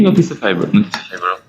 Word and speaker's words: noticeable: A przy okazji, ponieważ wszyscy jesteśmy anglistami i uczymy angielskiego, jaka jest poprawna wymowa tego słówka pod B? Noticeable. Pięknie, pięknie, tak? Pamiętamy? Vegetable.